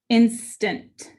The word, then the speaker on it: instant: And this A because of its placement, is getting that upside down E, the schwa. It's going to say instant. That first syllable is accented.